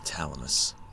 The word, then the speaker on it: Thalamus: her at the end of The Journey the thalamus oh it's pronounced Thalamus now okay good I've been pronounced